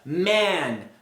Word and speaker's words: man: Quando você tem o a, a pronúncia ela é algo mais longo. Você abre a boca mais verticalmente. A pronúncia você deixou o ar sair durante mais tempo. É man.